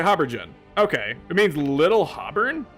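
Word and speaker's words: haubergeon: Pronunciation. Oh no, I was right. Habergen.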